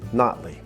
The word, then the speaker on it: Nottely: Nottely, locals say Notley.